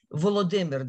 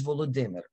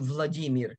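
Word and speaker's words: Volodymyr: as well for example you know volodymer the name of the ukrainian president his first name is volodymer the russian variant of that name is the vladimir i've heard them i've heard people say on you know high-profile big media companies call him vladimir which i'm sure that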